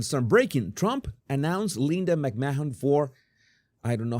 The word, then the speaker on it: McMahon: McMahon, silent. Okay, like McMahon.